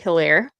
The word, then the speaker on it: Hilaire: I'm going to say the H is silent. American wide receiver OJ Hilaire.